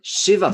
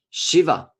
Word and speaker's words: Shiva: sure so curved there is another sure which is in the word Shiva for example Shiva or yeah sure where we touch with our tongue the alveolar exactly or the place which I touched when we pronounce the consonant or sure yeah and it's different the sir of Shiva and sure of Krishna is different there are two different